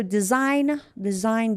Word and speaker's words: design: So design, G is silent.